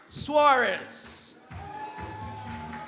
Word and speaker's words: Soares: And Miss Parker is followed by Nicholas Suarez. He made it very clear earlier that even though his name is spelled S-O-A-R-E-S, it is not Soares. He wanted to be called by his proper name, Nicholas Suarez.